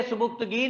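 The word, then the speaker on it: Subuktigin: जी, बोलेंगे सुबुक्तगीन, लिखेंगे सुबिक्तिगिन, याद रख ले स्पेलिंग के लिए इसके, सुबिक्तिगिन।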